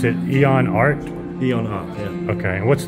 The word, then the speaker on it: Eon Arts: ID okay no this is cool so you pronounce it Eon art Eon art yeah okay what's the leg what's